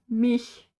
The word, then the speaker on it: Milch: To anyone learning German here, if you want to blend in northern Germany, pronounce Milch as mich, Milch, Milch or mich.